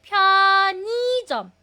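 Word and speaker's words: 편의점: Ang basa po nito, ang pronunciation po niyan ay pionism.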